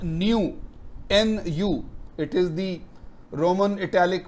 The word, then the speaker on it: nu: so poisson's ratio is a number called new n u it is the roman italic version of n